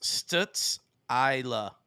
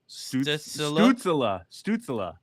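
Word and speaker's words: Stützle: It's pronounced Stutz-Isla. There's no way it's pronounced that. NES. Short I. What does that mean? Stutzela. Oh, that sounds better.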